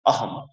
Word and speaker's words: অহং: কষেত্রে প্রথম বর্ণটা দেখুন অহং এক্ষেত্রে আমরা দেখতে পাচ্ছি অনুসারটি শব্দের শেষে বসেছে আমরা এই অনুসারকে ম উচ্চারণ করব অহম মহসন্ত আমরা আবার সম্পূর্ণ